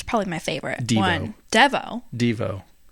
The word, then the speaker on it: Devo: it's probably my favorite Devo dvo that's clearly Devo I think it's pronounced dvo that's how I always